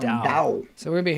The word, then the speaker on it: Tao: Dao. It's a D sound. Dao.